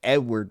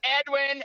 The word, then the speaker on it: Edwin: we we have Edward the fifth it's Edwin and you better get it right say it again